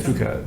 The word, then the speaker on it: Phuket: I always say fuck it. Are you guys trolling me? No. No, but also I don't know what it's I- actually yeah, pronounced. It's Phuket.